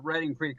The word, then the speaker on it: Reading: Yes, we've always called it Reading Creek. I've been here since '72, and it's been Reading Creek. But it's like, read and read. I mean, yeah, they're spelled the same and they're pronounced differently.